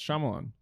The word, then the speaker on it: Shyamalan: name i'm not shyamalan that's it yeah it's shyamalan shamalama dingdong oh my god i gotta pee